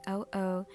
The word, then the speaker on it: O: You can call me O. It pronunciation is similar to the interjection O.